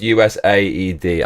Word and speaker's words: USAID: we are starting with us Aid my friends us Aid is Ground Zero for government corruption the p is pronounced us a d I'm going to call